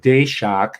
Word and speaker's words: Daszak: This is the recent one, and he connects Peter Daszak, is how it's pronounced.